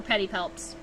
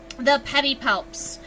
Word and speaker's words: pedipalps: a place for the pedipalps. Oh, if you're curious, pedipalps is spelled Pedipalps. P-A-L-P-S. Pedi, like a pedicure, and palps, like mouth fingers, right?